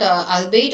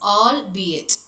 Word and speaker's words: albeit: So it is not albeit or something else. So it is albeit.